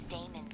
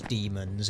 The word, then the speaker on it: daemon: Yeah, you'd still pronounce that word as demons. It's supposed to have an not an ampersand, it's supposed to have an ash symbol. It's not an AE separately, it should be an ash symbol, and it would still be pronounced demon. Calling them daemon just sounds a little bit weird.